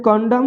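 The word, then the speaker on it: condemn: तो यहाँ भी देखिए एम के बाद एन है तो एन साइलेंट हो जाएगा, इसको सीधे पढ़ेंगे कंडम, तो कंडम माने होता है निंदा करना।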